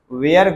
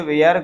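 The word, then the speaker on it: were: तो लोग पढ़ते हैं अधिकांश बच्चे इसको पढ़ते हैं दे वेयर गोइंग वेयर नहीं इसको इसका शुद्ध उच्चारण क्या है वर क्या होता है दे वर गोइंग राइट तो वाज वेयर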